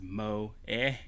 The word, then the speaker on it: moe: Alright, coined in Japan in the late 90s, moe, pronounced as moe, derived from a Japanese word that means it's derived from a Japanese word that means budding, to sprout, or to bloom.